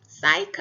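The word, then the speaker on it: psych: 사이코가 돼요 그래서 사이 피의 발음이 전혀 나지가 않고 있죠 그거 발음 조심하시고요 에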